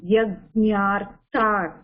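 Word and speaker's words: yajñārthāt: Okay, try to pronounce it as yajñā, yajñārtat.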